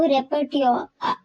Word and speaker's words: repertoire: Next term, repertoire, इसकी pronunciation का ध्यान रखेंगे आप कि इसको रेपर्ट्योर, लास्ट का आर ई वर्ड वो साइलेंट होगा, आर ई।